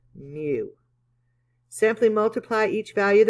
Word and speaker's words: mu: Okay, pronounced mu.